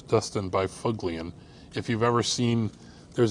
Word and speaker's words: Byfuglien: A Dustin Byfuglien, which I pronounce Dustin Byfuglien.